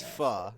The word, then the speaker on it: pho: It's pho. Yeah, first off, it's pronounced pho.